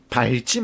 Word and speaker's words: 밟지: 그래서 낙엽을 밟지 마시온가요? 밟지 마시온가요? 자, 바 밑에 리을 비읍 겹받침은 자음 앞에서만 비읍으로 발음이 되는 특수사항이 있습니다. 그래서 밟지 마시오가 표준 발음인 거죠.